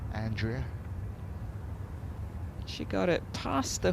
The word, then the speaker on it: Andrea: Although, should I give it the American pronunciation? Andrea Lee, isn't it? Rather than Andrea.